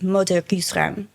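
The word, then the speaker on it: Mots d'heures: Gousses, Rames: But what it really is, when you say it properly in French, which I will struggle to do, it's Moder Gusrem, Mother Goose rhymes.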